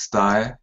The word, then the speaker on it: Tsutae: your first name key my name is sty like I saw like a suit them tights tie so I okay yes